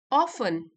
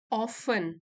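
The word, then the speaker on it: often: ऑफन, ऑफन, T silent है, ऑफन अक्सर, we crave overnight success.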